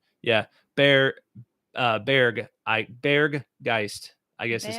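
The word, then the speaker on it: Berggeist: teddy says bear geist you have to pronounce the g at the end you pronounce it like bear geist which means bear spirit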